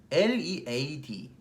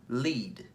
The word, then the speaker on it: lead: L-E-A-D 이끌다 아니면은 뭐 철, lead, lead, read, lead, read, lead.